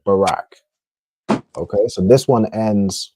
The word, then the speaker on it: Barack: You say his name is Barack. It ends in a qua, but because the ra and the qua are connected, it just ends up ending like rack, like Barack.